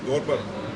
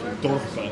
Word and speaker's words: Dorper: Dorper. The Dorper sheep. Yeah. Dorper sheep. I don't know why I said it like I'm not from South Africa. It's always the accent on the Afrikaans that gets Dorper.